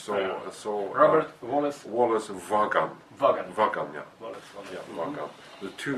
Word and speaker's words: Vaagan: Vaagan, yeah. Wallace Vaagan. Yeah, mm-hmm. The two A's are O really in Norwegian, mm-hmm. so it's Vaagan.